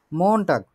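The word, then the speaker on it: Montag: মন টাগ উচ্চারণ করি, মন টাগ মানে হচ্ছে সোমবার, সোমবার।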